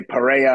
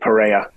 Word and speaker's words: Pereira: I think they say perea I think the r sounds like an H in Portuguese but I could be uh I could be wrong but I said perea all right I'll say